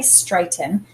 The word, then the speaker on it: straighten: Now we can hear that straighten, when I say straighten, the accented syllable is this first one, straight. And it has the A, the long A sound when A says its name with the AI.